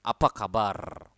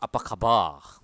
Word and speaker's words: kabar: you apaa kabar aabar remember to roll your r at the end just like Spanish like aabar not aabar okay aabar okay so